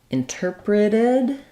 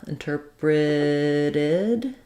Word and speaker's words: interpreted: Then when we move to interpreted, our T changes to a flap, interpreted, and we have the id ending, interpreted.